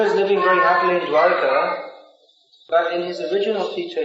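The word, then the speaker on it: द्वारका: He also lives in Dwarka, which is a city. Of course, Dwarka is the ISKCON pronunciation. And the real pronunciation is Dwarka. All Dwaris in ISKCON say Dwarka, I don't know why.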